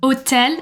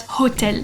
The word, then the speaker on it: hôtel: The H sound doesn't exist in French, so it's here just to be pretty. For example, homme and not home, or hôtel and not hotel.